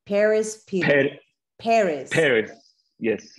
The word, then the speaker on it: Peres: pronounce your last name Paris people Paris Paris yes the American pronunciation Paris who is living in